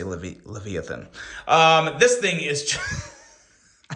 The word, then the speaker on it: Leviathan: There's probably 7 different ways to pronounce that, but on this channel, we say Leviathan.